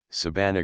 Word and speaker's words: Sabana: Hoy, ya no se pronuncia la palabra india con el acento en la penúltima sílaba, sino que se hajeco la voz estrujula, confundiéndola con la castellana Sabana.